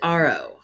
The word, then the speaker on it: Ariel: His name is spelled Ariel, but they pronounce it Arrow.